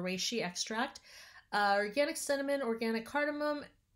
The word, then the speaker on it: reishi: coconut palm sugar organic I think it's pronounced rice XI or reishi extract organic cinnamon organic